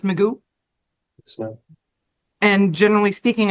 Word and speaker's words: Magoo: You said your last name is pronounced Magoo?